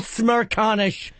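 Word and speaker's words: Smerconish: 56th place is a guy, I can't even pronounce his last name. I can. It's Michael Smirkanish.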